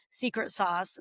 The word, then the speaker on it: Secret SOS: And then you can find us, we've been talking about the name of the company, Secret Sauce, but it's spelled a little funky. It's Secret SOS.